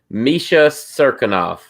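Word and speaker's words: Misha Cirkunov: misha ryan spain yeah ryan spann versus uh misha serkinov that's how you say it man i actually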